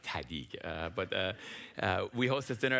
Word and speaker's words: TEDid: Said you have to say it like TEDid, but we host this